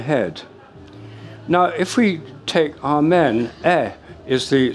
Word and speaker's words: Amen: Now, if we take āmēn, is the syllable, a syllable.